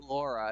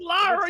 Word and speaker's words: Lara: it was right after Laura it was season four so it's Lara you said it wrong again a lot of